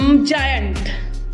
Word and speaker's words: giant: जैसे हम देख लें जायंट, है ना। तो देखिए, जायंट GIANT, है ना। तो आपका जी के बाद क्या आया? आई आया, तो क्या प्रोनाउंस हो रहा है? ज, जायंट, है ना।